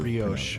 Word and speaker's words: brioche: I can never Brioche. pronounce.